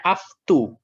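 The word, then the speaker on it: αὐτοῦ: Doksan ini membacanya aftu. Aftu. O dibaca U.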